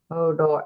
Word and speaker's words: Hodor: Kimberly's putting, is it pronounced Hodor or Hodor? Thanks for clarifying that, Patty. He capitalized it. Hodor.